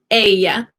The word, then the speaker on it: ella: Ella. Like she, ella. She is spelled E-L-L-A, remember the double L makes the Y sound. Ella, ella. So it sounds like an A.